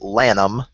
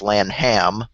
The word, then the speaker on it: Lam: artifacts and such uh my last name gets mispronounced a lot too it's Lam but gets put down as Lanham because there's actually a